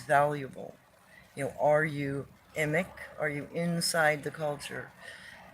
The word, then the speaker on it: emic: If you're well, emic I believe is the correct pronunciation.